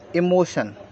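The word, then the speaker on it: emotion: इससे शब्दों को बनाएंगे ई एम ओ टी आई ओ एन तो इसको हम क्या पढ़ेंगे इ मो इ मो टी आईओ एन को हम पढ़ेंगे शन तोय हो गया आपका इमोशन ई को हमने ई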